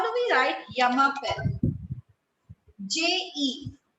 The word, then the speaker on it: je: J-E. J-E in French means I. I. Okay? It is pronounced as je.